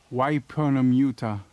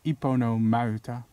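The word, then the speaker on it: Yponomeuta: If I was American, I probably would have pronounced this as Wipernamuta. But I won't, because I actually know how to pronounce certain names. I'm not claiming I know how to pronounce every name though, but I know how to pronounce certain names. It's pronounced Iponomauta.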